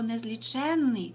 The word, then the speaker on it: незліченний: вивчати в сьомому класі а от слово незліченний означає неможливість виконання дії так як не можна всі зорі на небі злічити це слово має наголошений суфікс н тому пишеться із подвоєнням